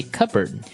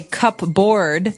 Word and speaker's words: cupboard: the silverware we usually keep them in a Cupboard okay so you might want to say cupboard because it's cup c u p b o